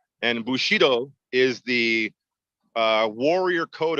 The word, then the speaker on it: Bushido: make sure I'm pronouncing it correctly the correct pronunciation is Bushido and Bushido is the uh warrior code of ethics for